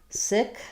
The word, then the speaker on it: sick: This word has the I and the k sound. Sick.